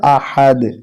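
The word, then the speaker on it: أحد: দুই পেশ দুন আহাদুন যখন এখানে থেমে যাব তখন উচ্চারণটা হবে আহাদ কুলহু আল্লাহু আহাদ কুলহু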